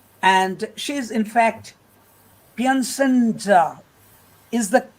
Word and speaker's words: Piacenza: Sabrina, I have already told you that she is from Italy, and she is in fact Piacenza. Is the pronunciation is correct, Sabrina? Bravo, Piacenza.